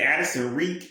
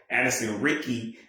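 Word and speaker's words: Addison Riecke: Ricky, but I'm like, how would I know that Riecke is pronounced the same way as Ricky?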